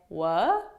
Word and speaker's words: what: didn't hear something and i simply say wha so basically i'm saying what but i'm not saying what because if you say what and you pronounce that t that kind of changes